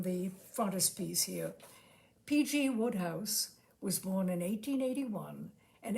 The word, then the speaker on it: Wodehouse: a short story by PG Woodhouse that is W house pronounced Woodhouse his name was pelum Grenville Woodhouse WOD D house he was the author